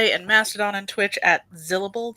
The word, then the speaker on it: Zillable: You can find me on the internet on Blue Sky and Mastodon and Twitch at Zillable, that's syllable with a Z, or on my YouTube channel, which is Zilla's Athenaeum.